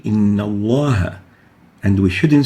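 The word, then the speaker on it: الله: to have cream we have to say in Allah and we shouldn't say the lamb has to be pronounced villarized another example the lamb here the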